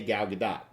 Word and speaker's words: Gal Gadot: late night hosts and she said the t is pronounced so I'm gonna trust the person who owns the name a little bit more than a random Youtube comment so I say Gal Gadot however I'm very excited